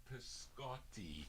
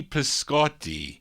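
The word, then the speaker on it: Pisciotti: p-i-s-c-i-o it's actually cho cio is pronounced cho in italian but it's p-i-s-c-i-o-t-t-i so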